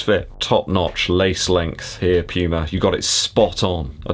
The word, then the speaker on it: Puma: nitro from puma and it is puma not puma over here in the uk we pronounce it puma i think you guys over in america pronounce it slightly differently and that's fine because